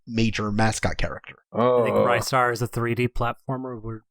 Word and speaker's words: Ristar: I just want to say it's definitively pronounced Ristar, by the way. I only know that because that's what it says on the title screen of the Japanese version.